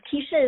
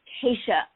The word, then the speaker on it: Keisha: really quick okay um your name is kisha is that correct his case is from acacia keisha i am so glad